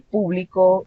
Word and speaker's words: público: Es tan importante porque la primera pronunciación donde la sílaba tónica está determinada en la primera sílaba, habla sobre un subjetivo, es decir, sobre el público haciéndose referencia a una cantidad de personas.